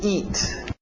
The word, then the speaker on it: eat: To eat. To eat, aquele T bem nítida. Eat, para no T, eat. Isso, EA, som de I, to eat.